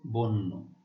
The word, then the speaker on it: বন্য: বন্য, ব ওকার উচ্চারিত হবে।